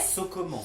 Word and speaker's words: socoman: So comment? C'est Ah oui. so comment? Genre, on fait quoi, tu vois? Ok. Comment ça se passe? Sauf que ça s'écrit S-O-C-O-M-A-N. C'est comment?